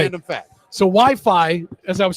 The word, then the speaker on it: Wi-Fi: called it I heard Wi-Fi. I was wrong. Well, most people are. They think it's wireless fidelity, Yeah. What is it? but they like that it rhymes with hi-fi, the people that invented it.